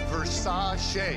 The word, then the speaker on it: Versace: Pronounced Versace. Singer? That's Liberace.